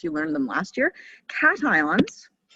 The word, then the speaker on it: cations: don't know if you learned them last year cations cations not casions cations it looks like haitians but it's pronounced cation they have a positive charge and